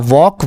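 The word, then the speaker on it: walk: अब मैं वॉक को बता दूं कि इसमें देखिए एल आया है। लेकिन दोस्तों एल हम नहीं पढ़ेंगे क्योंकि यहां वॉक में एल साइलेंट होता है। एल नहीं पढ़ा जाता। इसको हम पढ़ते हैं वॉक। क्या पढ़ते हैं? इसको हम वॉक पढ़ते हैं।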